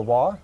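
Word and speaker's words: waw: jews the yemenite jews they still use the wah or the w not the v so that's another point that java or jehovah the vav or the via is not correct based on hebrew and actually the the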